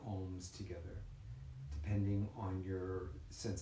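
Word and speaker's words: ॐ: a nice, soft, gentle ohm. So it'll be like, Aum will be the syllables like A-U-M.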